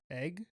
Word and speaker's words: egg: I used to always say egg, like an egg, like with an A. instead of an E.